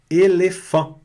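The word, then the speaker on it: éléphant: Elefant. Detalhe importante, a consoante aqui não é pronunciada.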